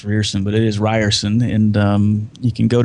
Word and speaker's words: Rierson: Yeah, I'm easy to find if you Google Ryerson and it's R I E R S O N. It looks like it's pronounced Ears, but it is Ryerson.